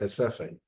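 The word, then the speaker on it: Recife: One was called, it's written Reciffe, it's pronounced Hesephe, where the Jewish people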